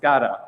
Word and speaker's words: SCADA: You'll also hear it pronounced SCADA a lot of the time and either way is technically correct. In North America, we tend to put a strong a in the front of it.